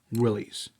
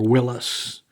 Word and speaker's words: Willys: Yep, this is Willys. Or Willis, however you want to pronounce it.